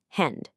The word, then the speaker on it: Hand: A D starts to sound like a T. So the word for hand is pronounced hend.